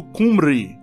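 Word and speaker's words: Cymru: A palavra galesa na qual eles se baseiam sendo, como agora escrito simru e é pronunciado quase como um inglês que trataria se escrito cumri ou cumry.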